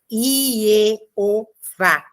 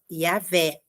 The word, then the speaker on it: Javé: Eu já falei anteriormente, a versão Jeová não encontra fundamento, porque quando a gente vai para o hebraico, não dá para fazer essa pronúncia, Ieová. Nós precisaríamos de dois vaves, por exemplo, para fazer o som de O e o som de V. Não dá. Então, a pronúncia ou Ieoa, Ieoa, ou Iavé, né?